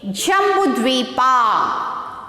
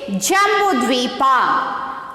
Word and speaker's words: Jambudvipa: J-A-M-B-U-D-V-I-P-A. Jambudvipa. How to pronounce this? Jambudvipa.